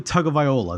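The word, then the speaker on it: Tagovailoa: at that point to a sorry to a tug of viola that's how you say his name uh just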